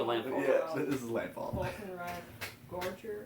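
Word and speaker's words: Falkenrath Gorger: Volkenrad Gorger, I think it's pronounced. Yeah, you got it right.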